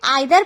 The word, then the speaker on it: either: तो देखिए, American English में इसे आइदर पढ़ते हैं और ब्रिटिश इंग्लिश में इसे ईदर पढ़ते हैं। अमेरिकन में आइदर और ब्रिटिश में ईदर, मतलब आप इसे ईदर